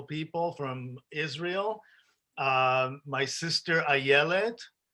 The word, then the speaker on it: Ayelet: My sister Ayelet. The way you pronounce it is I don't say it, I yell it. This is how you remember it.